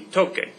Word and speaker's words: toque: That doesn't work, because if you put it like that, it'd be pronounced tose, and tocar has that k sound in it, so to maintain that sound in tocar, I'm going to change the C to QU.